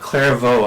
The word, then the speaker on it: Clairvaux: yeah, Clairvaux. I was going to ask you for pronunciation.